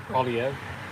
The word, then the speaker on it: Poilievre: Polyev, Pierre Polyev, his opponent for the.